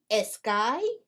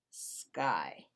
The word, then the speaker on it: sky: what about this one how do we pronounce this word eskai or sky sky why because we do not use the letter e as a help to pronounce the letter s when s is the first letter all right let's try